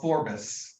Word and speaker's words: Forbes: here they were saying the original scottish pronunciation of forbus and phonetically that's two s's where the english-sized version was forced with one we also think it'd